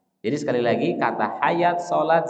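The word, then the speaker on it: صلاة: hayawat, ini rentan dibaca sholawat, ini rentan dibaca apa? Zakawat. Ya, makanya kaidah ini yang harus kita pahami. Jadi sekali lagi kata hayat, sholat, zakat atau yang semisalnya itu tanda panjangnya bukan menggunakan alif tapi menggunakan apa?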